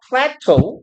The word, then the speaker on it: plateau: hit a plateau. 이게 발음 플래토우라고 읽으시면 돼요.